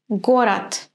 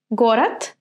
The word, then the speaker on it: город: I want to draw your attention to this word, город, город. I think its pronunciation is a little bit strange. But why? Well, you're right. I write it with d, город, but I do not pronounce it like this, город. I'm actually saying the t sound here, город.